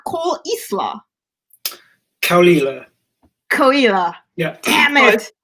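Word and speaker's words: Caol Ila: No, apparently it's called Caolila.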